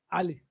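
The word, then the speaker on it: علي: So in the pronunciation, we say Ali, not Ali. It is Abdi, not Abdi. It is Omar, not Omar. It is Aisha, not Aisha. It is Alia, not Alia. So this letter is A.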